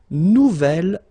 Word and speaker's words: nouvel: J'aime mon nouvel ordinateur. Nouvelle, phonetically you pronounce it like the feminine version, but then you write it N-O-U-V-E-L.